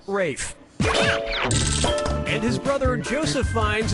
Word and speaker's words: Ralph: fines has to throw up Braille pastorale repast Corral roll pastorale for ray pastorale yeah ray Fiennes first name is spelled like Ralph but pronounced Rafe and his brother Joseph